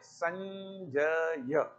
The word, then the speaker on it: संजय: स के ऊपर अनुस्वार लिखते हैं हिंदी में तो उसका उच्चारण संजय नहीं होगा, संजय होगा, क्योंकि ज किस वर्ग का व्यंजन है? च वर्ग का, और च वर्ग का पंचम वर्ण क्या है? ञ, इसलिए संजय यही उच्चारण होगा।